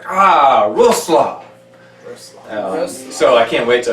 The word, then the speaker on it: Wrocław: to Wrocław. That is correct, Wrocław. Roslo. But we were calling it Wrocław.